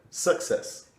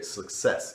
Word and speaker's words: success: Another example that you gave to me was Oh yeah, because for the word success, you said success originally. So I just corrected your pronunciation to say, okay, success instead of success.